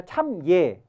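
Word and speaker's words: 參與: 소유했는데 불언 이여 했어요 요걸 예라고 읽으면 여라 읽지 않고 여라 하면 이게 더불어 함께 이런 뜻인데 예라고 읽으면 요즘 말로 하자면 참여 관여라는 뜻으로 할 때 예라고 읽어요 그러니까 이게 원칙은 참여가 아니라 참예 관 예 이렇게 읽어야 맞는 거예요 근데 이제 요즘은 그냥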